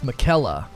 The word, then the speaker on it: Miquella: It's Miquella.